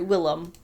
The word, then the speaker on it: Willem: way you're related to William Dafoe, but are you related to William Dafoe? Or sorry, Willem, I believe is how his name is pronounced.